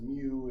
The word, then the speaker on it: mu: so suppose we have a mean mu that's pronounced mu it's spelled mu u of 40 and a